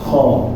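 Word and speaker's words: خ: Jadi dalam bahasa Arab itu nggak ada yang namanya kha ya, kha. Tetapi dia adalah huruf kho ya. Jadi jangan bacanya keliru menjadi kha.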